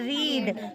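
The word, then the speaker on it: read: और पढ़ना होता है रीड रीड की second form रेड रेड spelling same होती है पढ़ा जाता है रेड आ गया और रीड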